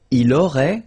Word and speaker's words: aurait: Il aurait, same thing here. Final T is not pronounced.